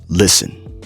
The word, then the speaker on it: listen: Listen. Love. Listen. Now you notice how I'm not saying listen, right? Listen. The T is silent.